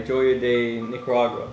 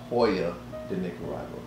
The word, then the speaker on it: Joya de Nicaragua: the cuatro cinco by joya day nicaragua so you butchered that name it's hoya the nic arrival well there you go